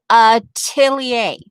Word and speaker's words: atelier: But just, Beth, since you're here, and hopefully you can hear this, this is how you pronounce, this is how I pronounce the word. Atelier.